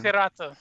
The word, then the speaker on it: Hirata: Hirata.